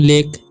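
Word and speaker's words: lake: जब किसी वर्ड में ए के बाद कोई लेटर हो और उसके बाद ई हो लास्ट में, ठीक है, तो ए का उच्चारण ए ही हो जाता है, ठीक है। तो ले और लास्ट में ई का उच्चारण कुछ भी नहीं हुआ तो इसे पढ़ेंगे हम लेक, ओके।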